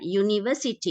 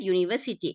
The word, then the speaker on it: University: read the Vish right University you pronounced it nice correctly right University what is the first sound what is the first sound first sound you you you right first sound U then is it a